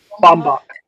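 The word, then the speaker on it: Baumbach: characters are all that matter like a Noah Bucks mom movie or whatever. Um, where it's like two people in a hard relationship. I think I said his name wrong just now. Um, Bombach, Bombach, sorry.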